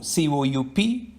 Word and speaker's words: coup: you give six ku c-o-u-p coupe c-o-u-p-e these two words can be contrasted and learned the word c-o-u-p is pronounced as coup which means a revolt and capture a power against